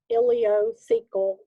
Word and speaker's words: ileocecal: called the ileocecal valve it's called ilio from the ileum cecal from the cecum ileocecal valve right here okay at